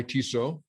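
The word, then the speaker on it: Tissot: It's presented by TISO, official watch of the NBA. The second T is silent.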